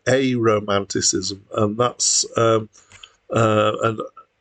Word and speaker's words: Aromanticism: the title um so when I first saw the title I thought it was probably pronounced a romantism cism or something like that um it probably should be pronounced a Romanticism and that's um uh